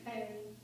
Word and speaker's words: Kyrie: But my mom chose to use the Russian pronunciation, Kyrie.